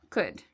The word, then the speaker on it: could: So afterwards, you don't need to worry about this L. It's silent. So we say would, should, could.